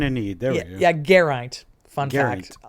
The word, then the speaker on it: Geraint: I can say that one because there's a very important Welsh cyclist, Geraint Thomas, who won the Tour de France, and that's how I know how to say it.